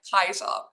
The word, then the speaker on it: Caesar: So instead of Caesar, how we pronounce it in English, it would have been pronounced something like Kaiser, the hard K sound at the start.